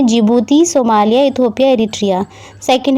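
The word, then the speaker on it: Djibouti: इधर की तरफ जिबूती पड़ता है, इसको जिबूती बोलते हैं, डी इसमें साइलेंट रहता है, ठीक है।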